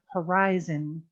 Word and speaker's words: horizon: uh horizon horizon horizon h is pronounced and it's i i horizon scientists scientists physicists physicists